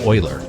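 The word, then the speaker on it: Euler: I could give you a Uler angle. Oh, I think that's actually pronounced oiler. It's a weird It's a weird word.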